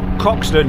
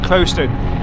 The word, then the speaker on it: Croxton: place in Lincolnshire called Croxton, or it's actually pronounced Crowston.